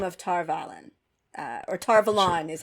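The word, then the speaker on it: Tar Valon: Kate reading said but I do think that tarvalon is a better pronunciation because I don't know if you know anything about um uh Arthurian Legend uh but there's a city like a country place called Avalon and I think that tar Milan is supposed to remind us of Avalon so it's a better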